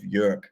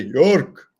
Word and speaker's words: Jörg: So my brother has this Russian colleague, and he cannot say the correct pronunciation of Jörg. So he always say York.